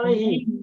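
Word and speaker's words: عَلَيْهِ: Itu bacanya alaihu apa alaihi? Alaihi. Ilaihi. Kenapa alaihi tidak alaihu? Karena sebelumnya ya Sebelumnya dia. sukun. Kan sebelumnya ya sukun.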